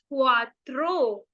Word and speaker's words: cuatro: Four को बोलेंगे सी के आगे ऊ, कु, आ, तरो, क्वात्रो।